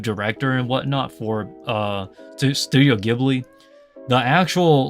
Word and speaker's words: Ghibli: So Studio Ghibli, or if you live in North America or in the Western countries, is Ghibli, but in Japan is Ghibli because of how it's pronounced, I guess, with the katakana and whatnot.